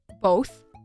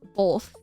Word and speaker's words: both: Another thing with my pronunciation of things is one of my friends pointed out when I say both, I say it with an L. So instead of both, I say both.